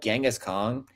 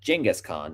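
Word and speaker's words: Genghis Khan: It was about Genghask Kong or excuse me, Jenaskhan. That is the actual pronunciation of his name. And Jingghask Khan was played by none other than an aging John Wayne.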